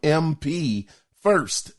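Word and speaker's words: MP1st: So the other thing is now we found out some more information coming from MP First. Their name is spelled M as in Michael, P as in Paul, the number 1, ST.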